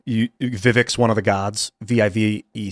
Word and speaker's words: Vivek: They're going to say Vivek when his name is Vivek.